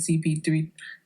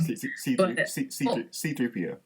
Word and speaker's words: C3PO: But if it's they're already spoiling us with Han, Leia, and Chewie, and R2D2 and CP3, whatever, gold guy. I always say it wrong. C3PO. C3PO. Yeah.